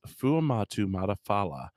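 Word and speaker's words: Fuamatu-Ma'afala: And the guy's like, Chris Fumata fuck. And so the way I remembered his last name, it's Chris Fuamatu Matafala.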